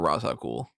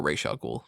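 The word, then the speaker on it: Ra's al Ghul: case being made for rasa cool or racial ghoul depending on how you pronounce it i hate racial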